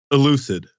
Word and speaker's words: ELUCID: I don't know how do you pronounce this one? ELUCID. ELUCID.